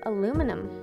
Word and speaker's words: aluminum: Okay, it's actually spelled aluminium. In America, we pronounce it aluminum.